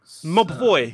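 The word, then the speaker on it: Mobvoi: is new SmartWatch by mob boy is that how you pronounce the name mah boy yeah that is right okay cool look amigo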